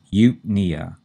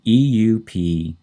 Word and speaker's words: eupnea: And notice the stress is on the second syllable, and it's on the knee in nea. And that's the way most of these words are pronounced, although there are a couple of exceptions. So it's eupnea. We put the stress on the second syllable, knee, eupnea.